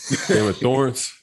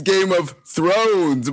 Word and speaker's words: Game of Thrones: Game of Thorns. What's it called? Bruh, it's Game of Thrones, Mike.